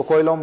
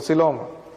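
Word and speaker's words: coelom: Real जो है Coelenterata कोइलेंट्रेटा, सिलोम कोइलोम, अब उसको कोइलोम बोलते हैं जबकि वो सिलोम।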